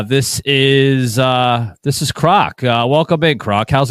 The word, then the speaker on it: Krawk: good friend of mine here from X uh Croc um I was calling him krock for the longest time but it's actually uh pronounced and spelled Croc right so k r